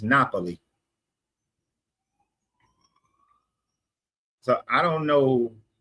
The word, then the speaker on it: Napoli: Just like we say Naples, you go over there is Napoli.